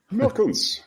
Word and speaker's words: Meurkens: Meurkens, yeah, That's Dutch right. native, yeah, as a Dutch native speaker, yeah. I know Yes. it's actually a hard sound to pronounce, the and the I know. Yeah, it's a very Dutch sound.